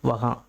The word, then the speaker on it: वहाँ: அதே மாதிரி இந்த வார்த்தைகளை உச்சரிக்கும் போது கொஞ்சம் கவனமாக உச்சரிங்க. இந்த வார்த்தைகளை உச்சரிப்பு முடியும் போது அந்த எங்கு அப்படிங்கிற வார்த்தை வந்து சைலண்ட்டாக ப்ளே ஆகும். சரிங்களா? கஹா யகா வகா நீங்கள் அழுத்தி உச்சரிக்கணும்னு அவசியம் இல்லை. கஹாங் யகாங் அப்படின்னு சொல்லணும்னு அவசியம் இல்லை. கஹா யகா வகா அந்த இங்குங்கிறது சைலண்ட்டாக இருக்கணும்.